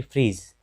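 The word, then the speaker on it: fridge: फिर फ्रीज, डी के बाद जी है, तो ये फ्रीज है, तो यहाँ भी डी के बाद जी है, इसलिए इस डी का उच्चारण नहीं होता है।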